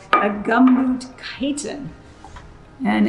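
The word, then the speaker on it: chiton: called a gumboot chitin.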